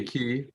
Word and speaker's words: qi: uh how do you key like a key okay like also pronounced g but i usually pronounce